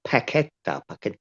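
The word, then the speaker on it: Paquetá: His name's Paqueta, but it's spelled Paqueta with a Q. but you don't pronounce the Q. You say Paqueta.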